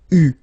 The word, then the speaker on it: eu: have to pronounce it U. So remember, main difference or big difference between what you write and what you pronounce, so you write it like that, EU, but then you pronounce it U.